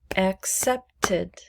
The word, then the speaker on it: accepted: make it past tense accepted accepted accepted there's an extra syllable now accepted so in this case the e d is pronounced id not ed id let's do need